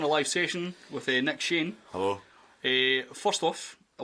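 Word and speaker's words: Cheyne: just a pain like chain and stuff like that? Well, yeah. Cheney Cheney all this stuff. How do you get Cheney for that? It's quite obviously Shane.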